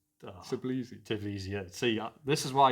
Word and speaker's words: Tbilisi: They were Dynamo how do you pronounce? Tbilisi.